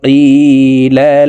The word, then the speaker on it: قِيلَ: ওয়াইযা কিলা লাহুম, ওয়াইযা জালকে এক আলিফ টেনে পড়তে হবে, জবরের বাম পাশে কালি আলিফ মদের হরফ।